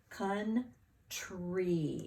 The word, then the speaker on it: country: It sounds like sounds like a short U. So we have to remember that it's OU. Country. And of course, we always have to remember that that Y at the end of a two-syllable word is going to sound like E.